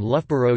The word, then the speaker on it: Loughborough: The place name Loughborough uses two different pronunciations of ow. The first ow has the sound as in cuff and the second rhymes with thorough.